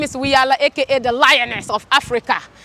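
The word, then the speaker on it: Wiyaala: It's Wiyala Rejimba, but just say Wiyala. It's not Wiyala. It sounds like Rihanna, which is amazing, but it's, yes.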